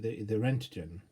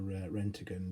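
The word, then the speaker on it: roentgen: And the unit of measure that these employ is the Rentgen, or Rentgen, depending on how you pronounce it, whether American or British.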